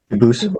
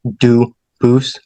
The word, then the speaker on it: Dubus: exact spelling in America they do pronounce it dubus but you said you pronounce it duus as the original do boo as the original French French yep very well du boo thank you you're welcome